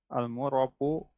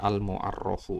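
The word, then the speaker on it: المعرف: Selanjutnya yang terakhir, yang ketujuh itu al-murafu bin nida. Al-mu'arrafu, Ini berarti ya Ustadz. bacanya al-mu'arrafu ya.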